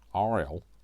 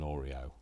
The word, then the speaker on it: Oriole: So it's not an Oreo, I know that. So Oriole, not an Oreo.